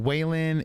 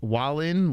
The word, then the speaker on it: Wallin: his name it's not whan it's Wallin like wall Wallin walline is that